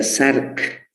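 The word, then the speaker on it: Src: en este tema y se pronuncia como si hubiese una después de la s se pronuncia shark la asignada shark es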